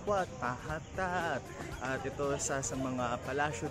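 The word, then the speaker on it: Wat Mahathat: Ang bigkas nila dito ay What Mahatat!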